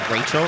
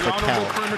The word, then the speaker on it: Raquel: A lot of people say her name is Rachel. It's Raquel.